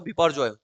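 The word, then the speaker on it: Biparjoy: ठीक, इसको बिपौर जॉय भी बोलते हैं ना, बांग्ला में बिपौर जॉय बोलते हैं, जो प्रोनाउंसिएशन होता है इसका होता है वो बिपौर जॉय।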